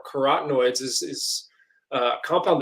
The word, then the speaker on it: carotenoid: compound called catenoids and it sounds like the word carrot and it's just the carrot or carotenoid oids is is a